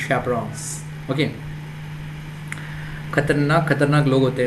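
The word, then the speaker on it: chaperones: It's not chaperon actually, it is chaperons, you know, chaperons. Yeah, it's not chaperon, it's chaperons.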